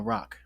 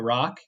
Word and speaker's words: roc: just say magically producing a rock uh listener it's spelled roc basically think like giant bird like bird version of dragon um but anyways we can